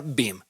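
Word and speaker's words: BIEM: para hacerlo más sencillo se pronuncia bim y las siglas son b I eem es un grupo de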